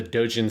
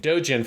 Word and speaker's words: doujin: and an illustrator and they're both in the dojin scene in terms of being consumers of the dojin market and dojen for people who do not know it's spelled